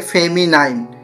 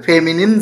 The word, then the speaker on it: feminine: Masculine gender, ফেমিনিন gender, অনেকে এটার ভুল প্রোনাউন্সিয়েশন করে থাকে, যেটাকে বলে ফেমিনাইন, অ্যাকচুয়াল হবে ফেমিনিন জেন্ডার, কমন জেন্ডার এবং নিউটার জেন্ডার।